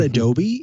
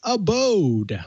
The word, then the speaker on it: Abode: all love to mispronounce it's not adobe it's abode what's an ability you're